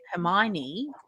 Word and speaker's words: Hermione: gotta get it right that's like me reading harry potter in my head calling it hermione for so long homeowner yep exactly that's pretty much exactly how i used to pronounce it in my head too even though i knew very early on i knew very early on that it was her hermione i just still couldn't